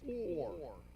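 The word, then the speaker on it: עור: word for skin by the way is it's pronounced or okay anyone know another Hebrew word that's pronounced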